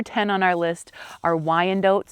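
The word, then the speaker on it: Wyandotte: Number 10 on our list are Y and dots. Some people call them Y and dots as well.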